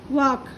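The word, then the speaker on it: walk: आ पढ़ रहे, आ, वॉक। आपको ये यल साइलेंट है ना वॉक में, वो उसका अलग मालूम हुआ सबको, तो ठीक है।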